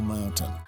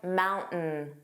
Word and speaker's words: mountain: more formal English because the glottal stop does sound more casual, relaxed. Let's listen to a clip with the T pronounced in mountain. From the lake, take the short drive up Signal Mountain.